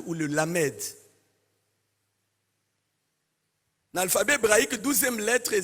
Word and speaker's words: lamed: Vous savez qu'un alphabet hébraïque la 12e lettre c'est le lamade ou le lamedal alphabet hébraïque 12e lettre lamade ou lamed ça se prononce comme ça ou et lam veut